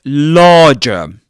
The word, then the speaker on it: larger: So, in the word larger, the first syllable in this word, larger, rhymes with car, with the vowel sound in car, and in farm, okay?